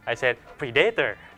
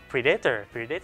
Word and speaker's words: predator: predator ดูหนัง you say predator อ่ะ no worse I said predator ก็คือพูด stress ผิด ที่ใช่แล้วก็ฝรั่งเขาหัวเราะเขาให้เราพูดตั้งนานเลย predator แล้วก็เป็นปมด้อยตอนนั้นอ่ะคืออายุ 16-17 เราก็เลยซ้อมพูดทุกคำ spelling pronouncing and putting the consonants predator ดังนั้นคุณผู้ชมจริงๆนะถ้ามันเกิดขึ้น if